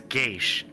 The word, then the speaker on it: Geass: language I know I I've heard gas I've heard yes I've heard geish I think Gage is the traditional pronunciation for this word though yeah see this is